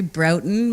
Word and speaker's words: Broughton: do they say it they say broughton mostly so i always have to say broughton like rotten which is maybe not